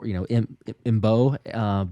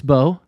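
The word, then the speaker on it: Mbow: But at first I was like, do I pronounce the M? Because the M is before, Mbo. But it's Marcus Beau for Purdue.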